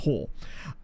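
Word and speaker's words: Haar: His name was Jakob Hoor, or Hoar, but his name was spelled H-A-A-R, but obviously because Norway, that would be pronounced Hoar.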